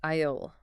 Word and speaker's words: aisle: Something like, it's in aisle 5. That word aisle looks weird. It does. English silent letters strike again. It's pronounced aisle for NES. Aisle. Think of island. Same deal, silent S.